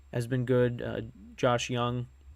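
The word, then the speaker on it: Jung: for the Rangers has been good uh Josh Young right that's how you pronounce it I don't know why it's not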